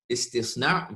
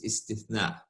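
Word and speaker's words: استصناع: So the pronunciation of letters is pretty important. Istisna versus istithna. Manufacturing contract versus an exception to the general rule.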